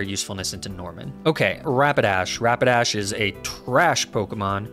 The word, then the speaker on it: Rapidash: into norman okay rapidash rapidash is a trash pokemon rapid dash rhymes with trash it is trash i